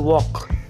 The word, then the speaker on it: walk: सुरुवातीला दिसतो आहे वॉक, WALK. याच्यामध्ये हा साईडला एल फ्लाय होताना दिसतोय, तो सायलेंट आहे येलो कलरमधला. स्पेलिंग जरी WALK असलं तरी उच्चार वॉक.